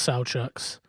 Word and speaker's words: Sauchuk: out out to uh I think it's pronounced sa Chucks sck corn yeah sa Chucks